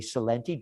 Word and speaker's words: Celente: But you have to say it properly, Celente.